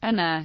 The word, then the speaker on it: Anna: Notice that doubled letters represent separate occurrences of the sound in question. For example, Anna is pronounced Anna in Polish.